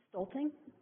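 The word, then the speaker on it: Stulting: Stalting. How do you spell that?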